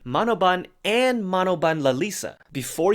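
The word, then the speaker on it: Manobal: clarification at one point Lisa's last name is spelled with an L but is pronounced with an N now the reason we're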